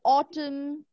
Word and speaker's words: autumn: at the next one some letters are silent like in Autumn sword now people normally get